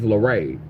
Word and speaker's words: Laray: that my birth name, my middle name is Laray. So and it's and it's um but it's spelled um L A R A Y. So it's LA, not not L E.